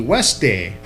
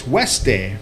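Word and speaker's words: Husted: I see that it's pronounced H-U-S-T, Weste. Although it's spelled H-U-S-T-E-D, it's Weste.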